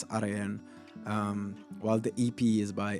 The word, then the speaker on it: Araen: It's Araen. You need to roll the R in a French way. You know, like Belgians always like roll the R. So you need to pronounce it that way. It's Araen.